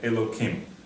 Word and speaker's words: Elokim: Outside of a prayer, of a traditional prayer, we may not mention the name of God in vain. And therefore, we don't say Elo and later on Him the proper way, but we would say Elokim.